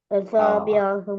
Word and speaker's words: أصابعهم: the أصابعهم அஸ்வாபியாகும் அந்த மீமை முழுமையாக வெளிப்படுத்தணும். எப்படி வெளிப்படுத்துறது? أصابعهم எஸ் என்ற சவுண்ட் என்ற சவுண்ட் முழுமையாக உச்சரிச்சு முடியும் வரைக்கும் நான் அதை உச்சரிக்கணும்.